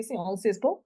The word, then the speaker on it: Sciences Po: I must pronounce it correctly, because if I say Très Sciences bien. Po, my French friends are like, what? Sciences Po? So I will try to say Sciences Po.